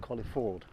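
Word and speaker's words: Colyford: Um and there's another village for it called Collie Ford. I have to pronounce it like that because I was told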